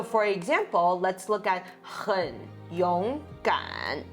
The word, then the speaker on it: 很勇敢: But then all together, it becomes 3, 2, 3. So 很勇敢.